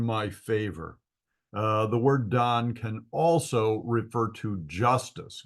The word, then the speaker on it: Dan: the root word is the Hebrew word Dan and it would be spelled D a n and pronounced Don and it means to